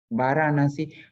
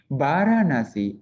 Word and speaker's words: Varanasi: Varanasi, Varanasi or Varanasi. When you pronounce it in English, maybe you say Benares or something. Peter, how do you pronounce this word? Benar, I'm not sure. Benares. Benares. Benares. In Pali, Varanasi or Varanasi. Or in my language, Sinhalese, we say Varanasi. Varanasi.